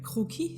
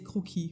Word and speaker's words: croquis: It sounds French to me, because in English it's pronounced croquis. And in Danish we say croquis, which makes it sound a bit French.